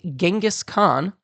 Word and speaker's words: Genghis Khan: While most in the west and many across the world say Genghask Khan, many in the historical circles believe that the Mongolian pronunciation was much closer to Chingis Han and that the name went through numerous cultural verbal shifts before landing on the popular pronunciation that many in the West use today.